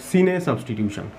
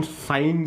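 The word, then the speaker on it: cine: আমরা এই ধরনের রিয়াকশানকে বা এই ধরনের সাবস্টিটিউশনকে বলি সিনে সাবস্টিটিউশন। অনেকে আবার এটাকে উচ্চারণ করেন সাইন সাবস্টিটিউশন। উচ্চারণ নিয়ে আমাদের কোনো মাথা ব্যথা নেই, বিষয়টা বোঝা নিয়ে কথা।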